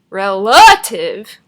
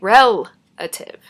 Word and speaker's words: relative: We don't say relative, right? We say relative. The stress is on the first syllable.